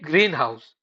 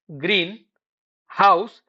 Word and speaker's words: greenhouse: Take greenhouse. If you read it as greenhouse, the rhythm becomes incorrect because English treats many compound words as one stress unit, not two separate words.